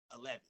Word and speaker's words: Hell Heaven: but it's it's spelled hell heaven but I pronounce it 11.